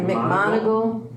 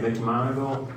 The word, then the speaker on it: McMonigal: Could I have a motion to appoint McMonigal, how do you say it? I say McMonigal. Okay, Yeah. McMonigal to the position of